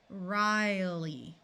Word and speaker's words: Riley: Okay, right here in these two names we have a silent E that is going to make the vowel 2 letters before it have its long sound. So this part will be Ryle, and then the Y has the long E sound.